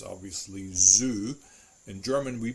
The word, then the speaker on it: Zoo: It is always pronounced like a TS sound, like a T. It's actually a plosive sound. T. One perfect example is Zoo, der Zoo.